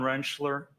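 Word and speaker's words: Rentschler: Could you please state your name for the record and spell it? Dr. Wrenchler.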